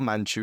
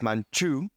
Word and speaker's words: Manju: so ch that's why in English you say manchu it's actually not manchu it's manchu but English doesn't have j so they currently write a j o um this phone